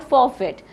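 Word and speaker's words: forfeit: है that is called फॉर फिट so what is the correct sling of फॉर फिट इसमें आर जो है हमारा साइलेंट होगा साइलेंट आर ठीक है फॉर फिट सो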